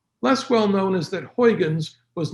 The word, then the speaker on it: Huygens: My Dutch friends say it's pronounced Huygens, but it's difficult enough giving this lecture without trying to practice perfect Dutch.